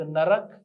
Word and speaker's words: नरक: नरक शब्द शुद्ध है हम अक्सर स्वर्ग के उच्चारण के करण सही बोल रहे हैं करके नरक शब्द का उच्चारण करने लगता हैं स्वर्ग सही है स्वर्ग नहीं होता लेकिन नरक गलत है नरक नहीं होता सही शब्द नरक ही होता है इसलिए इस प्रश्न का